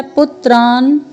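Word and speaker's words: पौत्रान्: आचार्यान मातुलान भ्रातृन, फिर है पुत्रान, पुत्रान, फिर है पौत्रान, प में औ का स्वर, फिर त्र में आ का स्वर, फिर अर्धवर्ण न है।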